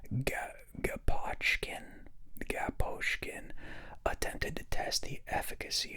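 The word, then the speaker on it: Gaposchkin: Oh, maybe it's like school, SCH, Gaposhkin, and there's a K. Okay, they really want you to pronounce that like K. They're hitting that hard, SCHK.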